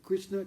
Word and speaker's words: Krishna: If Krishna comes in the form of sound, Если Кришна приходит в форме звука, no? Krishna, 2 syllables, Krishna.